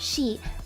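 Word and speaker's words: sidhe: the the she it's spelled s-a-s-i-d-h-e but it's pronounced she actually the banshee the banshee that everybody in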